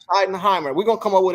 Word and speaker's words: Schottenheimer: How you pronounce it? Schottenheimer. Schottenheimer.